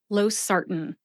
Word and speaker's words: losartan: Either way you say it, emphasize that second syllable, SAR.